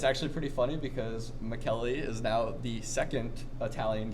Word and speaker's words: Michele: And in Italy, the way to say Michael is Michele. So my name is pronounced, even all my friends never really say it right, but it's Michele. It's spelled M-I-C-H-E-L-E like Michael.